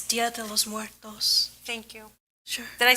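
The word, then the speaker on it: Día de los Muertos: It's Dia de los Muertos. Thank you. Sure. Did I spell it wrong?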